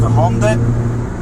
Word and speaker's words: Hyundai: It's actually pronounced HYUNDAI, and he told me what to order to get the same kit that they had there.